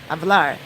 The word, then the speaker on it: hablar: but it's hablar it's H a B L a R but the H's are not pronounced in espanol in Spanish so it's pronounced hablar